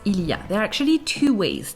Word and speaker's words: il y a: ways to pronounce it the first one is where you pronounce everything that's standard french one that will pass anywhere and any time the second way is ya sometimes spelled y apostrophe